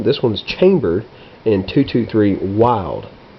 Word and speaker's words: Wylde: one's chambered in 223 wild w y lde is how that's spelled and I can't remember